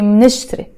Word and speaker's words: منشتري: But you have to be very fast because here you have a consonant with a consonant. MN. There's no vowels here. So you have to say منشتري. So it's two syllables.